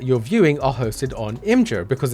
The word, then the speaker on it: Imgur: Now this is happening to any content or images hosted by Imgur, I-M-G-U-R. I'm pretty sure it's pronounced Imgur.